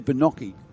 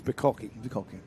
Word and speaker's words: Bacocci: we were saying Lucas' name wrong yesterday. We spoke to his mother yesterday. It's Bacocci. But he's leading anyway.